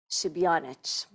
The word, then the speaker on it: Šebjanič: to introduce and I'm going to pronounce this right shanic wow is like amazing really one of the best pronunciation I heard from my last name thank you MRA for